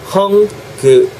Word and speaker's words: hungry: hungry 발음하실 때 hung 세게 뱉으시고 gree gree gree gree가 아니고 gree gree 입모양 잡으세요. hungry hungry hungry hungry, hungry.